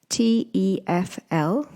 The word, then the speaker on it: TEFL: a tefl course so what's a tefl course t-e-f-l pronounced tefl for short is stands for teaching English